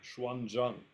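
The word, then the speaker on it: Xuanzang: a Chinese monk whose name in Japanese is pronounced genjo I think in Chinese it's something like Shan Jang um but this monk Schwan Jang is usually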